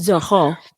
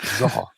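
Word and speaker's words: Zoreaux: a new player this episode as well in Zoro. We're going to call him Zoro. We're going to call him Zoro because that is what he eventually ends up calling himself. Zoho. It's Zoro.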